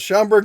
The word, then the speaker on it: Schaumburg: Yeah, that one I know how to pronounce. Schaumburg, Illinois, where they've yet built another plant that is no longer in existence.